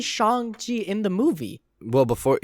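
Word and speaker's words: Shang-Chi: them say shang chi shang chi they say shang ji in the movie well before yeah well before the movie everybody thought it was pronounced shang chi so that's how everybody thought you pronounced it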